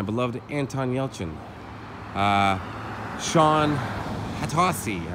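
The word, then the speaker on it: Hatosy: anton yelchin uh sean hattosi i believe is how you pronounce the last name who i met at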